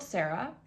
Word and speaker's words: Sarah: So, 16-year-old Sarah, it's pronounced Sara.